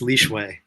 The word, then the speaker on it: Lishui: did my first time I think it's leway is the what I understand is the closest to the correct pronunciation that we can get to um so this is